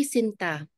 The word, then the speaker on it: Sinta: and metallic sweetheart say Sinta the stress is on the second syllable almost like a serenade